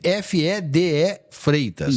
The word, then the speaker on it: Fede Freitas: O D é mudo, não? Não, FEDE Freitas.